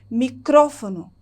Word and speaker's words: micrófono: E no espanhol eu tenho a mesma palavra, só que a sílaba tônica do espanhol da palavra microfone está no cro, no ro. Micrófono.